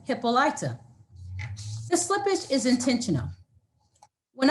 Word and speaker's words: Hippolyta: you who have noticed my pronunciation has been hippolyta rather than hippolyta the slippage is intentional